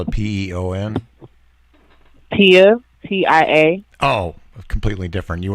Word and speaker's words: Tia: Do you spell it Peon? Tia, TIA.